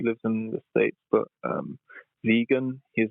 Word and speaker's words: Vegyn: Vegan. It's spelled VEGYN.